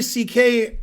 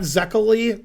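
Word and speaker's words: Székely: had that name and the pronunciation in english is close to ck not zekely which you would say if you were american like me you would say ck because it's it's you know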